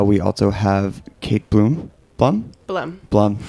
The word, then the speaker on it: Blumm: Blumm. Yeah, one syllable.